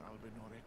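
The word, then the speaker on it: Albinaurics: I am Albus, an Albinurix. Albinurix. I won't remember that, but it's good to know that's how it's pronunciated.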